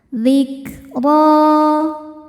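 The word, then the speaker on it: ذكرى: Huruf ro dibaca tafkhim karena barisnya fathah. Cara bacanya ditebalkan. Zikro.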